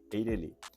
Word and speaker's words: EIRELI: De acordo com as regras de acentuação gráfica, a pronúncia correta seria EIRELI.